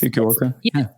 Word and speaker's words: Fukuoka: They're going in December to, oh my God, I'll say it wrong, Fukuoka in Japan. That's Fukuoka.